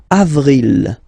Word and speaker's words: avril: So mars, pronounce the final S. Mars, mars. Okay, then avril, avril, avril.